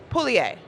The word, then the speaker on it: Pugliese: And then down the line, also with ESPN Cleveland, we have Betsy Pugliese. Did I say it right? Pugliese, but Pugliese, very close. like bolognese, like but bolognese, Pugliese.